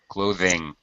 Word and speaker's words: clothing: Clothing.